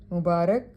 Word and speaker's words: مبارک: واو پر پیش ہے۔ مبارک، برکت دیا ہوا رے پر زبر ہے۔ خلط ملط، دونوں لام